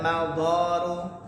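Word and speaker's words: المضار: Maka manfaat-manfaat diniyah, manfaat-manfaat yang sifatnya diniyah agama, wa dunyawiyatu, manfaat-manfaat yang sifatnya duniawi, wal mawdaru, bacanya mawdar ya karena dia jamak dari mawdarrah.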